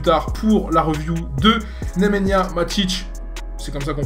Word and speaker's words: Nemanja Matić: On se retrouve donc dans la soirée un peu plus tard pour la review de Nemanja Matić, c'est comme ça qu'on prononce, TOTS.